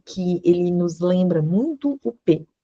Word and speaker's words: ob: Então, eu não leio ob não, eu leio op. OP. Aqui eu coloquei um ponto só pra gente, é como se fosse uma, como se eu tivesse separando sílabas, tá? Então, o som de B mudo, ele tem um som de P.